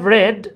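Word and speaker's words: read: দিচ্ছি I have রেড এটা রিড না কিন্তু রেড ভার্বের তিন নাম্বার এবং সেকেন্ড ফর্ম হলে রিডের উচ্চারণ হয়ে যায় রেড eye have রেড দা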